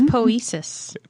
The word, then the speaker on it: poiesis: It's poesis. Poesis. It's ancient Greek. And again, I tried to pronounce that correctly, but I feel like I did not.